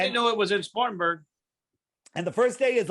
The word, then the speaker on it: Spartanburg: Well, first thing you got to do is learn how to say it. Spartanburg.